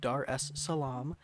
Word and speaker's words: Dar es Salaam: before I embarrassed myself it is kind of pronounced just as it's spelled Dar es Salaam um and I actually